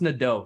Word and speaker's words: Nedo: um and instead of it's pronounced Nado so it's a French name um but for the